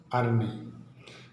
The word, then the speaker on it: yrneh: इसका दूसरा यूनिट अर्नी होता है, अर्नी, YRNEH, इसका उच्चारण अर्नी होता है।